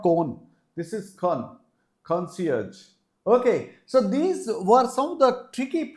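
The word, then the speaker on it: concierge: conci now this is not con this is Con conage okay so these were some of the tricky pronunciation the words with tricky pronunciation but I'm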